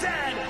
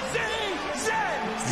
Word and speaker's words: Z: The toque is a hat, a Chesterfield is a coat, and it is pronounced Zed, not Z-Z.